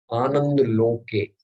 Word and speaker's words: Anandaloke: How should we pronounce it? Tell me again. Okay. Anandaloke Mongolaloke Virajo Shotto Sundaru.